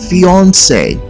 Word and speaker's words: fiancé: which is Beyonce and it should be pronounced to rhyme with the word Beyonce here's a sentence for